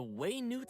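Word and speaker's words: Wenut: Slayer Cannon and repel the wandering waynood the way Newt Slayer Cannon huh wow so that's how you pronounce it way Newt as its name implies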